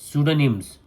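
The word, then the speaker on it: pseudonyms: है okay answer लिखो पी इज a silent P caps में एस सी यू डी ओ एन वाई एम एस स्टोनिम्स right और pen names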